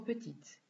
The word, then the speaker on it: petit: Ihr bemerkt, dass man grand und petit mit einem E schreibt, wenn das Nomen weiblich ist. Die Aussprache ist auch etwas anders. Ich lese noch einmal vor. Le pull est trop grand. La chemise est trop grande. Le pull est trop petit. La chemise est trop petite. Hier werden das D und das T nicht ausgesprochen.